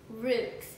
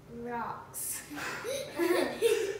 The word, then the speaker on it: roux: Roots. Rocks. The correct pronunciation is root.